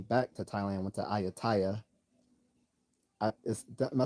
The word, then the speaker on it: Ayutthaya: Oh, I did say it right, Ayutthaya.